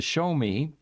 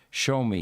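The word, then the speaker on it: Xiaomi: he's driving is the show me su7 by the way that is spelled x i a m i but it's pronounced show me even though there's no sh in there which is often times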